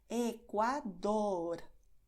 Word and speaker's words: Ecuador: Date cuenta de que en Ecuador tienes primero la D con bastante contacto y luego la R, que es lo mismo pero solo un toquecito rápido. Ecuador. ¿Ves? Así es como debes pronunciar.